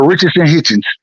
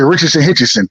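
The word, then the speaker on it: Richardson Hitchins: Go listen to, and I would challenge y'all to go listen to Richardson Hitchens.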